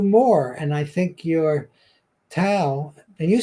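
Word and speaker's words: Tao: to pronounce the words even though it's spelled with a T it's actually da yeah yeah but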